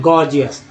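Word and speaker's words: gorgeous: तो जैसे एक वर्ड है इसका जी ओ आर जी ई ओ यू एस, तो यहाँ पहला जी ग, दूसरा जी ज के रूप में उच्चारण है, गॉर्जियस।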